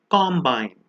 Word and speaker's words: combine: The one on the left means combine, which means to mix, and the one on the right is spelled exactly the same way but is pronounced as combine. A combine is a harvesting machine.